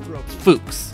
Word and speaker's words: Fuchs: I got the hard CH as like a K sound. The U, I never would have guessed. Because like in English, this looks like much. but it's Fuchs.